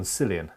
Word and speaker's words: Cillian: Ah, that's a hard C on Cillian.